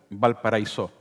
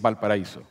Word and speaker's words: Valparaíso: Y Chris Marker dice, mal pronunciado la francesa, Valparaíso. Es Valparaíso, Valle del Paraíso.